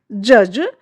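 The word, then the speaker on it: judge: इसके रूल्स क्या कहते हैं देखिए, जब जी से ठीक पहले डी आता है तो डी का जो प्रोनाउंस है वो नहीं किया जाता है, डी का उच्चारण नहीं किया जाता है।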